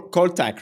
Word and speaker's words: Kholtak: and yeah we're gonna talk about uh Co col Tac right do I pronounce it well I have issue with pronunciation